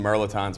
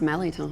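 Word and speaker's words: mirliton: You can see some merlotons right there. That's a bone of contention with us. Because it's pronounced melliton.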